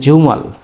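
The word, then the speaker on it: 주말: জ এবং ঝর মাঝামাঝি উচ্চারণটা হয় জু, জু। তারপরে আমি নিলাম আকার, ময়াকার মা, এরপরে এরকম। এটা হচ্ছে জুমাল, জুমাল, জুমাল মানে সাপ্তাহিক ছুটির দিন, জুমাল মানে সাপ্তাহিক ছুটির দিন।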